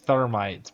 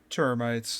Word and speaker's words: termites: Is he saying termites or thermites? Because it sounds like he's saying thermites, bro. How do you say it? Termites. There's no H.